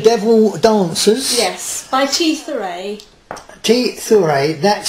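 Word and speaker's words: T. Thurai: T.Thurai, that's spelled T-H-U-R-A-I.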